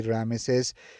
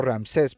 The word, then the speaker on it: Ramsés: Así que por al transcurso de la película vemos que Moisés y Rames o Ramsés, perdón, así se pronuncia, Moisés y Ramsés eh